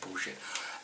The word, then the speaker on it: bullshit: I love the way some of the Americans from the deep south say bullshit. There's an added sort of vowel in there, added syllable.